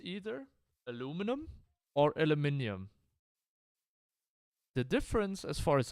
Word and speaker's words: aluminium: correct way to, or the scientifically correct way is, if I recall correctly, aluminium, and that's how it's pronounced in German as well. Or how it's written in German as well. It's not necessarily pronounced that way. But the easier version aluminum is should I call it a plebeian version?